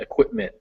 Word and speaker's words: equipment: The T in equipment is actually like that too, at the very end, equipment.